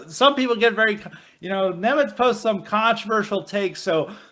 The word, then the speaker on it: Nemets: Nemets, any final words, and how can the good people follow you? I can just go to Twitter and search at Peter_Nemets, like the Admiral.